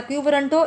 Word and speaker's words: quo warranto: The term quo warranto pronounced as a quo warranto is Latin for by what authority, as in by what authority does this person hold this office.